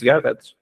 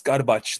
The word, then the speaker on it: Garbacz: too who is Chris Garrett good um good pronunciation of my name uh here in Australia no one knows how to how to uh pronounce garbage they're like a backs garbage all these other funny